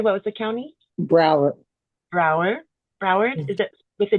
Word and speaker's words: Broward: Broward. Broward? Is it with a D? Do you pronounce the D or no? No, it's you have it in there, Broward.